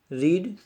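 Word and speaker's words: read: रीड, R-E-A-D, रीड. Spelling रिमेन the same but pronunciation is रेड, R-E-D, रेड. Pronunciation is रेड. Spelling रिमेन the same, spelling same रहेगी but pronunciation will change.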